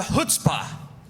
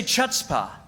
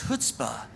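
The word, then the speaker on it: chutzpah: throughout the years for teaching me how to say the word hutzpah I used to say chutzpa and then Mark took me aside he says is hutzpah not chuta and if you say chuta you sound like a schmuck so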